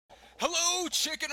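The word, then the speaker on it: CHKN: And for those of you that are also wondering, it is pronounced Chicken, C-H-K-N.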